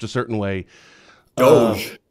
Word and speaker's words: DOGE: pronounced a certain way doge is Doge well I've never heard